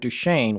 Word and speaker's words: Duchesne: And so Bottle Hollow is very close to Fort Duchesne, which was an actual fort. That's why Yeah. it's called Fort Yeah. Duchesne, Right.